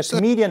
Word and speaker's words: comedian: The host of the art auction will be local comedian David Canesta. 자, comedian 나오네요. 코미디언 아니고 영어로는 comedian 이런 발음이에요.